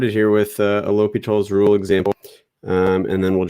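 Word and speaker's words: L'Hôpital: rule or learning about l'hopital's rule obviously it's spelled spelled a little weird l'hopital is how it's pronounced so it looks like this looks like l hospital's rule but it's pronounced l'hopital um but what this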